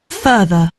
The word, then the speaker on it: further: So, you know, an animal has a fur coat. That's really the sort of sound we're saying at the beginning.